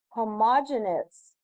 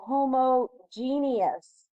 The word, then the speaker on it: homogeneous: We call this a homogeneous or homogeneous. You can pronounce it either way.